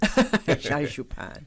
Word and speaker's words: Sha Zhu Pan: I work as a financial investigator here to talk about Shazupan, and it was right pronunciation. Shazupan. Like I said earlier, it sounds like candy, but it's not candy.